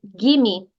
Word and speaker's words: give me: Claro que a palavra give realmente se pronuncia give, mas é muito comum você ouvir gimme, gimme, gimme. É como se esse VE não existisse.